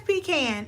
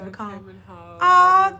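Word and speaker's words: pecan: much um but yeah who says P can and who says pean cuz baby y'all saying it wrong if y'all say pan a thank you you she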